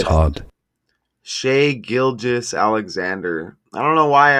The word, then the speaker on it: Shai Gilgeous-Alexander: No, the pronunciation of his name in English is as Shai Gilgeous. It's hard. Shai Gilgeous-Alexander. I don't know why I always hear Gilchrist. Shai Gilgeous-Alexander.